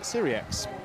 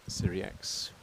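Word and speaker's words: Sirieix: And it is Syriax. The X is pronounced. So there you go. So now we know for definite it is Andrea Spendolini Syriax.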